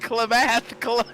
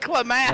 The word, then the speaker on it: Klamath: It's pronounced Klamath. Klamath Falls. I said Klamath.